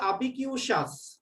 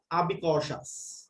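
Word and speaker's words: ubiquitous: Plastic trash has become so সো আবিকিউশাস উচ্চারণ হবে আবিকিউশাস বা আবিকশাস, এর রিয়েল উচ্চারণ হচ্ছে আবিকশাস। Plastic trash has become so আবিকশাস।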